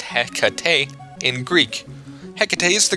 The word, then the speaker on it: Hecate: princess Knight that appeared in nakayoshi HEC is pronounced Hecate in Greek HEC is the Greek goddess of